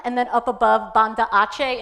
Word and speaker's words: Aceh: And where you see Medan, and then up above Banda Aceh, in Indonesian language, C is always pronounced ch.